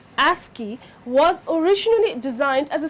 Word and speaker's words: ASCII: the American Standard code for information interchange ASCII pronounced ASI was originally designed as a 7bit code several